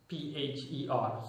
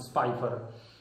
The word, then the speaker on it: Spipher: So, in short, his name is simply pronounced Spipher. So, you pronounce it Spipher.